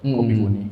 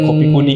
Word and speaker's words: Kopi Ku Ni: Sebenarnya itu lebih ke pelafalan orang Medan kali ya, kayak kopi kuni, ini kopiku sebenarnya.